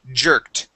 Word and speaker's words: jerked: uh the word jerked instead of hered it is J jerked jerked okay with the T at the end jerked jerked okay nice